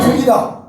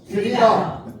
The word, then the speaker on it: 틀리다: 따라 나는 나는 틀이다. 틀리다. 틀이가 아니라 틀리다.